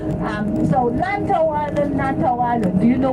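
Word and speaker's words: Lantau Island: about it lantto lanto lanto in C is a very strange pronunciation l means broken broken the chi okay broken head l to to is your head lant lant it's like a broken head or chip head so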